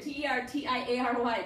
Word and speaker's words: tertiary: Tertiary, T-E-R-T-I-A-R-Y, tertiary. I had people trying to get a S-H in there, I don't know.